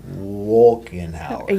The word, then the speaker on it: Wolkenhauer: would say, and then how do you spell it, the last name? WOLKENHAUER.